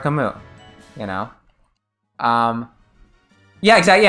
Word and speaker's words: Camus: I you know it's I said kamu like Albert Camus you know um yeah